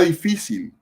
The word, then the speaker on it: difícil: La palabra difícil lleva el acento en la, última, penúltima sílaba, es decir, en la sílaba fi.